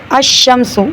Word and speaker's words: الشمس: لام کا تلفظ القمر، تو القمر میں ال جو ہے لام پڑھنے میں آ رہا ہے، شمس میں لام پڑھنے میں نہیں آ رہا.